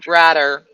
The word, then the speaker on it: Bradder: the flying bitchers and henry bradder rhymes with ladder there's an old bird